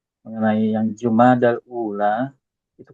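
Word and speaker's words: جمادى: ya selamanya tidak berharakat jadi cara bacanya jumada Alif Ul jumadaani jadi jumada ya ana belum pernah dengar orang Arab nyebut Jumadi ya yang ada jumada wallahuam Ustaz na Nam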